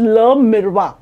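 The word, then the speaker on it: Le Miroir: आपल normal spelling नाहीय पण क्च्युली तो फ्रेंच वर्ड आहे इट इज ल मिरवा ल मिरवा ल मिरवा मिरवा आपण जस म्हणतो ना चला आपण मिर तसच ल मिरवा आहे आणि त्याच मिनिंग आहे द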